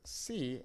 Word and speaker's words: si: So an example of that could be in the word see and in the word see, okay? These are both pronounced exactly the same, but the first one,